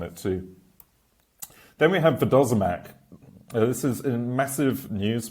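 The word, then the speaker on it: vodozemac: It's actually pronounced Vidozamac or something like that, and it links natively into Matrix Rust SDK in the near future.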